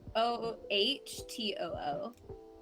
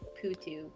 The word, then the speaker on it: potoo: It's POHTOO. I also had to Google how to pronounce it because I thought it was like putu, but it's Putu.